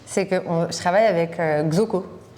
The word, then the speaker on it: Xoko: que je travaille avec Xoko qui se prononce Choco mais ça s'écrit X O parce que c'est à l'hypanique donc ça se prononce choco.